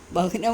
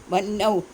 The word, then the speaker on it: വഹ്നൗ: വഹ്നൗ എന്ന് വായിക്കാൻ പാടില്ല. വന്നൗ ആ ഹാവിനവിടെ ഉച്ചാരണമില്ല. വന്നൗ എന്നാണ് വായിക്കുക.